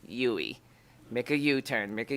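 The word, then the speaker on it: Duy: Just think of me when you do a U-turn. Okay. The D is silent. UI.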